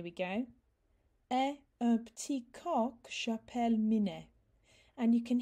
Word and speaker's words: coq: Et un petit coq j'appelle Minet. And you can hear where I've connected the que onto the end of the word co. So it's coq.